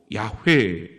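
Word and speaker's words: Yahweh: 하나님의 이름이 나오죠 여호와 공동 번역에는 야회 학자들은 주로 야회 이렇게 발음을 하지요 여러분이 여호와 출애굽기 3장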